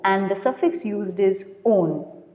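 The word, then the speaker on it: -one: Next is ketone, whose functional group is C double bond O, and the suffix used is on, O-N-A. It's not one, it's on.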